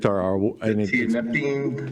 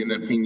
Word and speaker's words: tianeptine: Can you tell me how to pronounce it? Tianeptine. Yes, exactly. Tianeptine, yes.